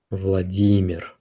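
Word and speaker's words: Владимир: Vladimir it's pronounced as Vladimir second syllable is stressed - Vladimir and becomes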